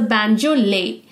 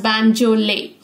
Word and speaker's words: banjolele: Now, this is pronounced as the banjolele, pronounced as banjolele.